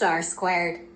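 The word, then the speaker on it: R²: In many statistics software programs, the coefficient of determination is represented by the symbol R2 pronounced R squared.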